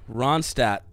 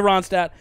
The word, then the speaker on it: Ronstadt: great life out here linda ronstadt i believe is how you say that last name there's like a dt it's cool it's definitely silent it definitely has to be there's at least one of those silent yeah one of